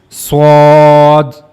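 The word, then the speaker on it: ص: So while reading this letter you have to make a bold voice. So this is swad swad.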